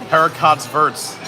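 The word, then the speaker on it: haricots verts: Also, don't pronounce the T's. Heracott's verts.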